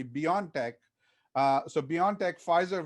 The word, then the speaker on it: BioNTech: us was the uh bion tech pfizer or you know the way they like to pronounce it is actually beyond tech uh so beyond tech